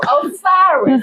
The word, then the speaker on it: Osiris: Osiris.